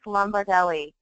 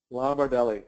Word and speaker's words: Lombardelli: Yeah, it's a nice long Italian name. It's Lomardelli. Lombardelli.